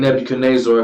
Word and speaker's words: Nebuchadnezzar: So at this moment of time, I'm gonna pronounce his name Nebuchadnezzar because that's one of the pronunciations that you can pronounce it.